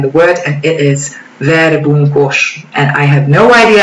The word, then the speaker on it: verbunkos: know all around the world, and it is verbunkos, and I have no idea how they pronounce it somewhere else in the world, but trust me, we pronounce it like this in Hungarian.